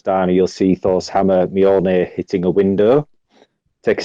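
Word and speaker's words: Mjölnir: Um which I really don't know how to pronounce, but this is something I did look up just so I got it right. Is Molir.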